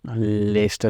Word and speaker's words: Leicester: How do you spell it? LEICESTER.